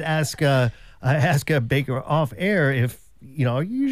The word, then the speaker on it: Bayker: the note too that it's Baker with a Y ba y k do